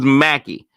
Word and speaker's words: Mackey: How did I know it was Mac? But it was Mackey.